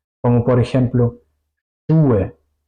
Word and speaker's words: Schuhe: La SCH se pronuncia siempre juntos en alemán y se pronuncia como sh. Si quiero callar a una persona, sh, así se pronuncia. Como por ejemplo, Schuhe, Fisch, waschen, waschen, lavar, Fisch, es, Schuhe, zapatos.